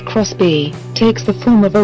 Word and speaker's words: Xbee: the hustle a minivan the xbe pronounced Chris B takes the form of